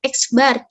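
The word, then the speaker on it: x̄: simbol X dari sini kita Bacanya jangan experience ya kita akan belajar Matematika udah belajar matematika pas ditanya nanti sama orang itu dibacanya apa ya x garis jangan lagi ya kita bacanya dengan eksbar Iya apathetic Epit Epit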